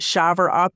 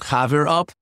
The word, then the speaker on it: Chaver Up: Is it Shaver Up? Is that how to pronounce it? So I would pronounce it Chaver Up, but the word Chaver